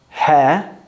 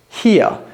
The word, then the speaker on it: here: So how do we pronounce this word? Hair? No. In British English, you'd pronounce it here. Again, we don't pronounce the R in the middle of the word, but it's two sounds. So we've got he, here, he, here, here, here, here. We're not pronouncing the R.